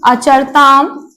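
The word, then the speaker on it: अचरताम्: ये है प्रथम पुरुष द्विवचन और वहां मध्यम पुरुष द्विवचन, तो केवल आ की मात्रा का अंतर होता है, इसलिए उच्चारण शुद्ध होना जरूरी है।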